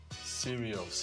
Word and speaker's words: Sirius: r i u s serious yes s i r I thought it was like serious okay like serious no no also serious the radio xm yes both nice so so introduce yourself.